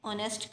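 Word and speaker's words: honest: शी इज़ एन ऑनेस्ट girl. अब ऑनेस्ट में जो एच है वो साइलेंट है, और ऑनेस्ट जो हमें साउंड दे रहा है वो वोवल का साउंड दे रहा है, ऑनेस्ट.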